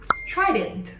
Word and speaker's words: Trident: O T, quando estiver na primeira sílaba, ele normalmente é aspirado. Então a gente não fala tra, a gente fala t, t, tra. Tr. Você percebe que sai A junto com o som do T?